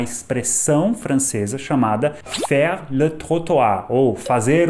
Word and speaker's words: trottoir: A pronúncia correta até seria trottoir, mas eu vou falar trotuar na maior parte do vídeo para todo mundo entender.